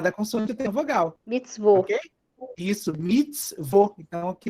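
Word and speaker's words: מצוות: Mitzvot. Ok? Isso, mitzvot. Então, aqui eu tenho uma sílaba, vo.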